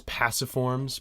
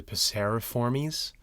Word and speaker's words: Passeriformes: But you know how I thought it was passiforms, but it's really passeriformes.